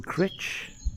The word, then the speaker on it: Crich: it's been to Blackpool it's now here in crit that's how it's pronounced I've just been reliably informed and the